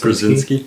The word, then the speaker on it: Krasinski: Krasinski?